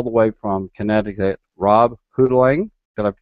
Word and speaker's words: Hotaling: a guest all the way from Connecticut, Rob Hotaling. Did I say it right? Hotaling. Hotaling.